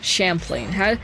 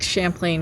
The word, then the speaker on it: Champlain: Champlain. How do you pronounce that? Is it like champion or like champagne? Champagne.